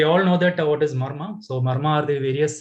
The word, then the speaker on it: Marma: So the word Marma is formed by 3 syllables, Ma, Ra, and Ma.